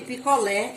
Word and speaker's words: picolé: No lé, o som sobe e é aberto, você abre a boca, picolé. Mas se o acento fosse circunflexo, essa sílaba lé teria um som fechado, picolé, picolé.